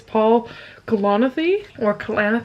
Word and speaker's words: Paul Kalanithi: So I started When Breath Becomes Air, and I realized that I don't pronounce this author's name correctly. It's Paul Kalanithi.